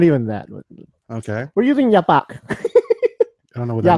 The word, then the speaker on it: yapak: We're using yapak.